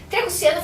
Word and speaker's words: Tria Cusciano: Triacuciano, falei a pronúncia correta?